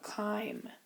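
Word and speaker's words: chyme: substance we're going to call it Kim Kim is how you say that and Kim is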